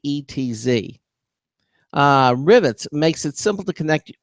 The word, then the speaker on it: Rivetz: um so let's talk about the company rivetz it's spelled r i v TZ uh rivets makes it simple to connect web services to